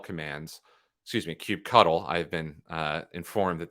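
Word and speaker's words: kubectl: we're going to be able to run a cube CTL commands excuse me Cube cuddle I've been uh informed that that is the official pronunciation Cube cuddle commands uh against the cluster that we created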